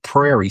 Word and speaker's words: Prairie: You didn't say Perry State, but you know how you say Perry State? I did used to say that. So I'm like, it's Prairie.